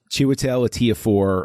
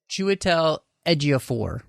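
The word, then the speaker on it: Chiwetel Ejiofor: me oh it's uh chiwetel a tia4 i think is how the pronunciation is chewie tell eggia four it's year four i apologize it's a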